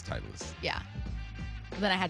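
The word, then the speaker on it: Titleist: It's not Fitlist. It's not. It's Titlist.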